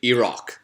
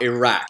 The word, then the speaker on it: Iraq: As you may have noticed, I'm saying Iraq, not Iraq. Iraq is the correct way to pronounce it.